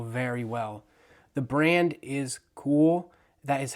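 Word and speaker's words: Kühl: The brand is cool. That is how you pronounce it.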